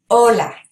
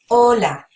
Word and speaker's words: hola: out to you that this H is silent when we say words with an H it's act as if it's not there but it is spelled